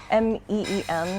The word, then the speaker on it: Meen: M-E-E-N. That's how I spell it.